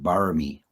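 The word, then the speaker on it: บารมี: In Pali, it's generally parami, and in Thailand they pronounce it barami.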